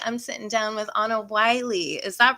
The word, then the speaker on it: Willey: hart and today i'm sitting down with anna wiley is that right zahu pronounced your name yes yes awesome it's always